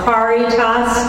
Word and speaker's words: Caritas: You wanted to hear about Caritas Center, so hardly anybody can pronounce it except for the Latin scholars, but Caritas, driving a car, loosely translated means love for all, love for all.